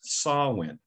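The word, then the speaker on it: Samhain: i looked it up it was known as saul when and it was held from october 31st to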